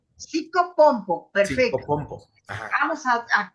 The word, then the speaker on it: psicopompo: Psicopompo. Psicopompo. Psicopompo, perfecto.